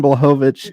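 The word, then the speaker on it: Błachowicz: it was wild none and then John uh blahovich I figured it out we're gonna have our own segment on pronouncing last names Jan bulhovich and uh Alex Pereira that was a good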